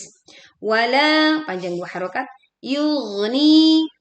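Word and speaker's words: يُغْنِي: Yugni yug. Oke. Alirkan suara gin sukun agar tidak tersendat.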